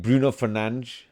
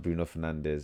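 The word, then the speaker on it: Bruno Fernandes: So, I need Bruno Fernanch. That's how you pronounce his name apparently. Not Bruno Fernandez.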